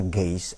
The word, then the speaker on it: Geist: Ini semua yang ada ini diatur oleh ada yang hakiki namanya Geist, atau tulisannya ya, bacanya dalam bahasa Jerman Geist, oleh roh itu.